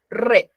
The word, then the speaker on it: read: como ves Pero el lo que cambia es la pronuncia no rit se pronuncia siempre s en infinitivo pero cuando es pasado tiene otra pronunciación ya se va a pronunciar como el color rojo red Ya hay que tener